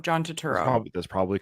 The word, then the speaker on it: Turturro: Sorry, I always say his name wrong. Turturro. How do you say his name? I say Turturro, John Turturro.